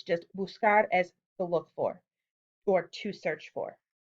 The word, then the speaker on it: buscar: So if we conjugated this normally, suddenly we have the pronunciation busé, but we need to keep the pronunciation of buscar. We need to keep that k sound.